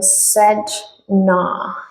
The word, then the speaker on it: Sedna: The pronunciation is given. Sedna.